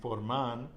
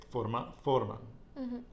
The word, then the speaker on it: forman: Again, because of the nose rule, we're not saying mandan, we're not saying forman. We know it's the nose rule, so the stress goes on the penultimate syllable, which would be like forman, okay?